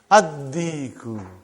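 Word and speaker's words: الديك: Ad-diku. Why? You did not pronounce lam because it is sun letter.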